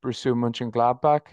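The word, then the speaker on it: Mönchengladbach: I suppose you said your main club in Germany is bruu munin gladbach is that have I have I got the German pronunciation right that actually was pretty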